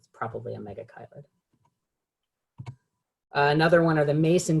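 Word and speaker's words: Megachile: substrates as well and as much as i want this to be called to be pronounced mega chili it's not it's mega kylie and it's the family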